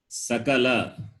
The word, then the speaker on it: sakala: Like for example, sakala or shakala, both are different. Sa and sha.